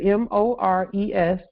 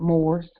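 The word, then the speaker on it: mores: at the top here m-o-r-e-s uh it's a noun uh some would say more some would pronounce it Moors it's a noun and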